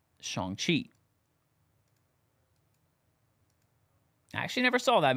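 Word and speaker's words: Shang-Chi: the horror Inc yeah shanqi said that wrong Shan chei I actually never saw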